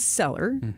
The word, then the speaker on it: Cellar: And Seller is spelled C-E-L-L-A-R, like a wine cellar.